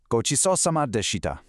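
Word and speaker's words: ごちそうさまでした: Gochisousama deshita. It translates to thank you for the meal. When you pronounce it, make sure you hit that specific ch sound, kind of like the ch in cheese.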